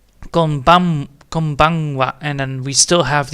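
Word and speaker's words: こんばんは: And then of course, again, we're gonna type it over, so we have konbanwa. And then again, the ha is not spoken out, it's actually a we, which I definitely need to make sure that I type that in, because holy shit.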